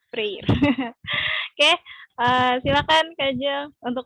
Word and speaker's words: Freire: Apa nih bacanya? Freire.